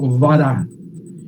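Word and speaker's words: ברא: Yo puse cómo se lo pronuncia en hebreo, vará.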